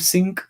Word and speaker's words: Sync: Soul Sync, se escribe sync como sincronizar, sí, S-Y-N-C. sí, ahí Claudia también escribió, parece que es seguidora tuya, Claudia Albornoz, escribió Soul, pero no es de signo, es Sync, con C al final.